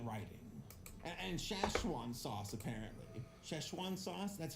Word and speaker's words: Szechuan: Szechuan sauce?